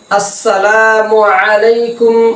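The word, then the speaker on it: السلام عليكم: আমরা সালাম যে আমার সালামের আসসালামু শব্দের হামজা এবং মিমের পেশ যথাযথভাবে উচ্চারণ হয় কিনা আমরা যখন সালাম দিব তখন আমরা সুন্নত তরিকায় এভাবে সালাম দিব আসসালামু আলাইকুম ওয়ারাহমাতুল্লাহি ওয়াবারাকাতুহু এটা হচ্ছে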